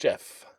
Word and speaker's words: JEF: It is just Jeff.